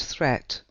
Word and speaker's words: threat: Watch out for meat and great and threat, they rhyme with sweet and straight and debt.